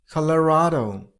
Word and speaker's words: Colorado: You got to stress on the third syllable. I mean on P sound. Calia. California. Next. Number six. Colorado.